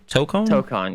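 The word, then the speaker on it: Tōkon: Tokkon, yeah.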